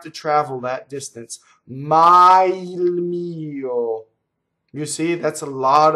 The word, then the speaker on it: mio: Mio, so all of these possessive words, mine, yours, tuo, tua, they have the accent on the first vowel. Mio, mia, okay? So it's actually a two-syllable word technically, right? You need an extra grace note to say it.